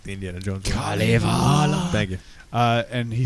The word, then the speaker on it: Kalevala: Kalevala.